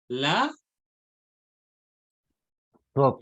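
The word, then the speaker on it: לזאת: Entonces, ¿cómo vamos a pronunciar? La Zot, La zut.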